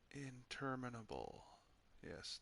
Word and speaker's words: interminable: Interminable. Yes, that is the word and how it is pronounced. Almost sounds like a mashup between inter and abominable.